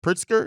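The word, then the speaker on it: Pritzker: Governor uh prit pritsker pritsker is the thing is how you pronounce it um as far as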